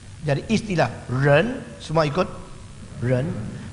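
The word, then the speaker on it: 仁: Jadi istilah ren, semua ikut ren. Bacanya sama-sama ren ini. Jadi manusia itu ren, manusia yang sudah sukses ren, sama bacanya ren, ren.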